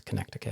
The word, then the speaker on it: Connecticut: question okay what about Connecticut that's how it's pronounced by the way it's Connecticut um it is a one night gig it's